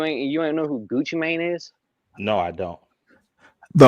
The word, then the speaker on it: Gucci Mane: Gucci Mane. Even I know that. Oh, it's Gucci Mane. Like M A I N.